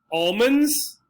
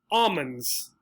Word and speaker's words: almond: this is ah o almonds or they might say almonds almonds notice the l the symbol the letter for the let the sound for the letter l all disappears in one of the pronunciations again consonant pronunciation difference